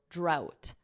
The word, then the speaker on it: drought: Notice this pronunciation, that GH is silent. It's just like the word out with a drought.